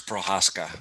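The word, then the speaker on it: Procházka: absolutely mauling that i'm pretty sure it's prohaska that's the way you pronounce it so anyways um yeah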